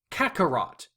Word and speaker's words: Kakarot: Kakarot. That's how it's said. Not properly. In proper Japanese it's said another way, but that's how it's said over here.